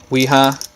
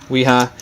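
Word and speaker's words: Wera: Weha. I think that's how you say it. It's a German name. Weha.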